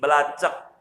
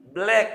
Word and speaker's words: black: Sama bahasa Inggris belacak, ya salah, artinya hitam. Black dibacanya, jangan belacak.